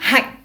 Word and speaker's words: hạnh: Pour le mot hạnh, nous avons un accent qui est un point. Donc souvenez-vous, contractez votre ventre et faites caca. Hạnh. A-N-H se prononce ang, comme le pain dans l'accent du sud en France. Le H, he, avec l'accent qui est un point, fait hạnh.